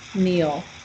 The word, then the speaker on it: kneel: It, it's the past of the verb kneel, to kneel, which is also spelled with a K. K-N, but we don't say the K. Kneel.